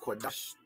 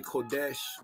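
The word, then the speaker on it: קדש: The word set apart, the word holy, the word Qadash. I mean, some people say Kodesh, but I'm not using that pronunciation. I'm using the Paleo Hebrew pronunciation, which I believe is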